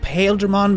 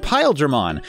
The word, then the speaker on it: Paildramon: wrong am i yeah there are actual Japanese pronunciation would imply that their name is pronounced in English pile German well that makes more